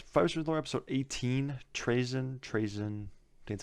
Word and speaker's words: Trazyn: Trazyn, that's how you say it.